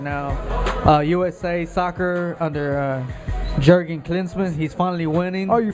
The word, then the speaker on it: Klinsmann: the support right now USA soccer under Jurgen Klinsmann he's finally winning are you finally finally learned how to say his name that's good yeah my cuz he's winning so I gotta represent I was hearing a Klansman Klinsmann Jurgen Klinsmann he's finally winning so that's